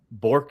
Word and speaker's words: Bork: Bork is how you say it. What? Oh, Bork. Yeah, that's what I would have said. And you told me you confused I said me. it's like torque.